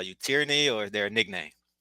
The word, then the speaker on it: Tierney: as far as I'm concerned is your name tyranny did I pronounce it right tyranny yes sir okay very unique I love it